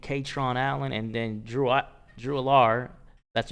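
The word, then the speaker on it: Allar: They're struggling they're struggling stopping the run, and Penn State with those running backs, Singleton and Katron Allen, and then Drew Alar, that's how you pronounce his name.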